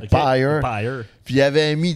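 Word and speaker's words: Pyer: Il avait engagé Pierre Desrochers, Pyre Desrochers, on le niaisait parce que son nom s'écrit P-Y-E-R, Ok. Pyre.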